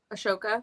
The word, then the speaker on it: Ahsoka: Ashoka.